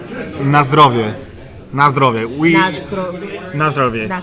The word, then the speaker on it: na zdrowie: Dude, pronounce bless you in Polish again. Okay, it's be careful. It's na zdrowie.